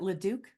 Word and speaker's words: Leduc: Is it Leduc? Yes. Okay, great. I'm glad I pronounced your name properly.